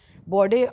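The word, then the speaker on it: Bordeaux: यह बोर्ड बोलते हैं वैसे इसको बोर्ड और नेंट्स टू द अफ्रीकन कोस्ट।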